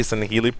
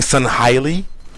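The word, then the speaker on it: Sangheili: all these voice actors who do not know how to say Sanheli properly, who are saying Sanhaili. I'm just like, man, like, listen to your directors. We know better than you. Don't try to pronounce Sanheli the way you want to. Say it properly.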